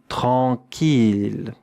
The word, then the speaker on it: tranquille: T-R-A-N-Q-U-I-L-L-E. Et maintenant, regardez comment cela se prononce avec une voyelle nasale. En, un son nasal. En. Tranquille, tranquille. 2 syllabes.